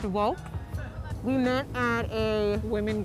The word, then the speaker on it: WOCC: of color in cannabis so it's WCC pronounced woke we met at a